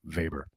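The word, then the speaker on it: Weber: about my man Ernst vber yeah and I'm going to pronounce his name like that too VOR um here's a day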